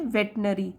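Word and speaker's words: veterinary: अब देखिए spelling, वेटरिनरी लिखा है वैसे, लेकिन इसको कैसे बोलेंगे, वेटनरी, तो पशु चिकित्सक को बोलते हैं।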